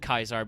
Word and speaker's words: Caesar: Uh, though I mean I technically I should pronounce it Kaisar because the Legionaries I don't know how Caesar got them to do this correctly, but the Legionaries actually speak Latin correctly.